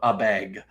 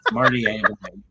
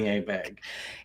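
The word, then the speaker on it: Abegg: with the field that he continues to call him Abeg. No, it's Marty Abeg. Marty Abeg.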